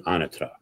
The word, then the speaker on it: Anatra: So I'm now pronouncing my name as it should be, Anatra.